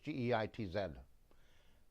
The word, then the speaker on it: Geitz: I think her last name is Gitz, or Geitz. It might be Geitz. It's German. I think it's G-E-I-T-Z. So it would be properly pronounced Geitz, I believe.